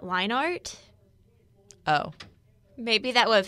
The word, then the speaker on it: Leinart: little bit is because the actual pronunciation for him as matt leinart oh maybe that would